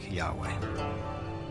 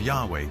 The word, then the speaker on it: Yahweh: would be YH wh which we think were probably pronounced something like Yahweh but Yahweh only appears